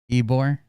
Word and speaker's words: Ybor: It looks like there was a shooting in Ybor City. Ybor. It's spelled Y-B-O-R.